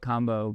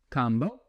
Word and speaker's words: Kambo: That is not how you say it. We go by how the tribes that that talk about it say it.